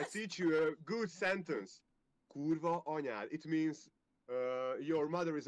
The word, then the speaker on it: kurva anyád: Kurva anyád.